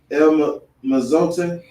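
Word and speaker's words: El Mozote: No one has returned to El Mazote. That's how you pronounce it.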